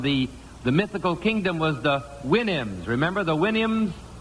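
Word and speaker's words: Houyhnhnm: It was from Gulliver's Travels, but it was from the mythical kingdom was the Winnims. Remember the Winnims? Supposed to pronounce it like you do a horse's whinny, I think.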